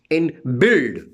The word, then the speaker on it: build: For example, in build, B-U-I-L-D, build, in build, U is silent.